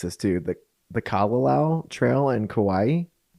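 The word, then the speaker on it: Kalalau: And so you both hiked the And I'm probably going to mispronounce this, too. The the Kalao Trail in Kauaii. Yeah. The Kalao.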